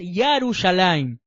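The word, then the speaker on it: ירושלים: tribu es yauda y el nombre correcto es yarus alim también en el brit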